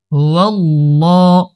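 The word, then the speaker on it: هو الله: সামনে চলি, হা পেশ হু, ওয়াও লাম জবর ওয়াল, হুয়াল, লাম খারা জবর লা, হুয়াল্লাহ, হুয়াল্লাহ, আল্লাহ শব্দের লাম মোটা, হুয়াল্লাহ, এক আলিফ টান হবে, হা লাম পেশ হুল,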